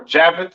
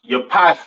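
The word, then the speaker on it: Japheth: right next we have jaffet all right or Javit some people like to call it right um pronounce Yap in Hebrew these are your so-called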